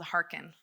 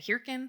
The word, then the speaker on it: Hearken: Or how do I say it? Hearken? And I say, oh no, Hearken, like heart.